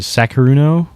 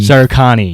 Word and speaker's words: SARUKANI: He's a part of, I don't want to mispronounce it, Sakaruno? The crew? Sarukani, yeah, Sarukanu.